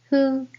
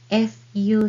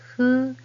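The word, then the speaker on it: ふ: Hu, this is more like HU sound rather than FU sound. So blow candle gently and hu, and that is this hiragana, hu.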